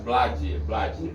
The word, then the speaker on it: Blade: É Blade do. Esse é o mais simples. Oficial, Blade, né? Blade do, vai entrar lá, vai ver meu trabalho. É EI, né? É como se pronuncia. Blade.